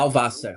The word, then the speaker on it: Blauwasser: Blauwasser. Actually, as you said, how do you pronounce it? Actually, yeah, it's blue. Blauwasser.